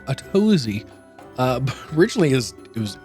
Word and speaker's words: Atozy: Uh, technically, well, his name is now pronounced Atosy.